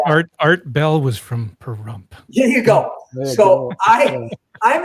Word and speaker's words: Pahrump: So I was in the building department in a small little town called Pahrump, Nevada, spelled just like it sounds with a silent H. Pahrump, That's where Nevada. Art Bell was from, Pahrump.